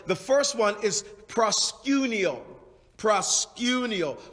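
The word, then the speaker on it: προσκυνέω: love these words the first one is prosciutio prosciunio proscinio is spelt p r p-r-o-s-k-u-n-e-o and proscinio is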